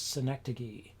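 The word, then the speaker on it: synecdoche: here um and the last of which is synecdogey which is how you pronounce that um which is a form it's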